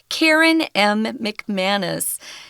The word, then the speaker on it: McManus: Karen M. McManus is how you say her name.